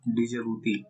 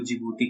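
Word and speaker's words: Djibouti: रेड सी और Adam gulf को जो कनेक्ट करती है, और डिजिबूती, इसको जिबूती कहते हैं, ठीक है, डी साइलेंट, जिबूती और यमन, जिबूती अफ्रीका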